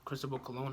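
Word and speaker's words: Cristóbal Colón: right there's even a personal notes of that Cristobal cologne hat all right that's how you pronounce his name all right well he couldn't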